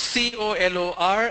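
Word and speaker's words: colour: How to pronounce C-O-L-O-R and C-O-L-O-U-R? Both are pronounced the same.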